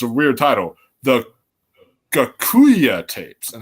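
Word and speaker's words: Gocuyyeh: can okay because it's a weird title the gakuya tapes and how you spell it is G o c u y y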